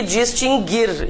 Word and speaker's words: distinguir: Então, extinguir e distinguir, inclusive todas as suas conjugações. Nunca teve trema, o U nunca foi pronunciado, nada mudou então, né?